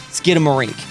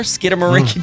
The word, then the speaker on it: Skidamarink: ways in fact um sharon lowes and brown spell it like the word skin skin a marinky dinky dink but i've always heard it as skid like skid marks in your underwear skidamarink dinky dink but uh either way